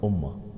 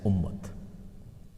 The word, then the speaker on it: ummah: We make waqf on ta at the end, and when you make waqf on ta, it becomes ha. So then it becomes ummah. But it's the same word which we write or we pronounce in Urdu or in Farsi or in other languages as ummat.